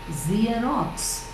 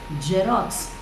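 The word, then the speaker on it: Xerox: we pronounce it as jerox zerox right am me right it's actually zerox z z it begins with z sound and next one is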